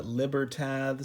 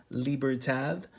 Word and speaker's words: Libertad: are awesome now the a lot of people call them the Libertad z-- lippert ads I guess is how it's spelled but you know it's it's kind of a silent D it's almost like a th sound if you want to say it correctly so I probably don't